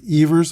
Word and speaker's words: Evers: His name was pronounced Evers around the league. He said in the early 20s that either pronunciation was correct, Evers or Evers. In Troy, New York, he was referred to as Evers, but most of the time around baseball, he was Johnny Evers.